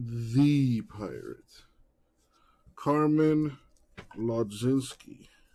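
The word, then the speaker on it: Mlodzinski: Carmen Lodzinski. I think the M is silent on that pronunciation.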